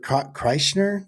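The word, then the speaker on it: Kreischer: can alchemy and yesterday he spoke to Bert Chrysner, that's how you pronounce it, the other comedian, sure.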